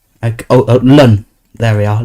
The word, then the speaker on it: ln: Ln. This is pronounced lun. Oh lun.